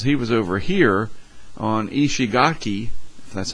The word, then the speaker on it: Ishigaki: Reynolds here James Reynolds he was over here on Ishigaki that's how you say it and he missed